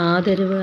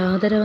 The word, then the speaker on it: ആദരം: അതായത് നമ്മൾ ആദരവ് ആദരവ് എന്നല്ല പറയാ ആദരവ് പക്ഷെ ആദരവ് എന്നല്ല ആദരം എന്നാണ് അങ്ങനെയൊക്കെ ഉള്ള ഒത്തിരി പുതിയ പുതിയ അറിവുകളാണ് നമുക്ക് കിട്ടുന്നത്.